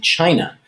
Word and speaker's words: Qin: another video on ancient china last time we talked about the qin dynasty remember qin is pronounced chin and we talked about